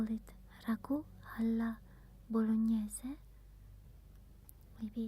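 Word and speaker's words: bolognese: It's bologn, but it's written like this.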